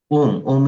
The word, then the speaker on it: Om: I can give is om is a pranava. Pranava means symbol of ishwara god. So Om is the universal sound made up of three syllables a U and M.